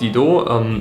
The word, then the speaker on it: Didot: Ja, die nächste Schrift, die ich euch vorstellen möchte, heißt Didot, ist französisch, deshalb spricht man es so aus.